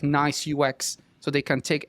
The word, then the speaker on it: NAIS: It's pronounced NICE, but it's written NAIS.